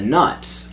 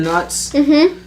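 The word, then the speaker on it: Knut: no, for a it's the currency, the nuts. I always K-N-U-T. I always read it as nut, but in the books, Jim Dale calls it a canut.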